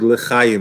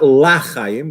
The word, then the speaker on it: lechayim: So he says to be very careful to say lechayim, to life, and not lachayim, which is another way to pronounce it. Why? Because lachayim could sound like 2 words in Hebrew, la, which means loy, not chayim, not life, God forbid.